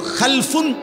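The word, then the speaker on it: خلف: মাঝখানে একটা লাম আছে, এই লামটার মধ্যে যদি সাকিন হয় তাইলে হলো খালফুন, আর যদি লামের মধ্যে জবর হয় তাহলে হলো খালাফুন, আরবি শব্দ।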